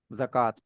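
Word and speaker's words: زكوٰة: अब यहां पे वाव साइलेंट है। वाव के ऊपर अलिफ है जो कि आ की साउंड दे रहा है। अलिफ मकसूरा और बोलते है जकात।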